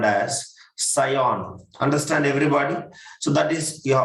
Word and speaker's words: scion: Scion, we used to pronounce as a scion.